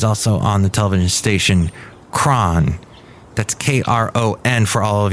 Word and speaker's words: KRON: And so Kron is taking the first syllable of that word, and putting a K instead of a CH.